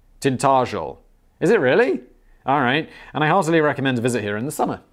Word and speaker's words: Tintagel: I live in the Cornish village of Tintagel, pronounced Tintagel.